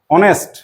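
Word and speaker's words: honest: এই কিন্তু মজাটা দেখ এই এইচটা থাকলেও এইচ এর উচ্চারণটা কিন্তু নেই আমরা বলছি অনেস্ট কেমন উচ্চারণ করছি দিয়ে করছি অনেস্ট দন্তনকার দন্তসট সেই এইচটা আছে কিন্তু তার উচ্চারণটা কি হচ্ছে না সেই কারণে আমরা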